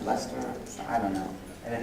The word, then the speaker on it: Leicester: It's like spelled like Heister, but it's pronounced Leicester.